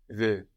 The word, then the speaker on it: veux: Now both of these veux are actually spelled V-E-U-X. We have an X on the end. But we don't hear this X because French doesn't tend to pronounce the consonants written on the ends of words.